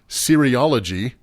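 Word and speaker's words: cereology: like cereal no well that's funny you say it sounds like cereal it's c-e-r-e-ology and it's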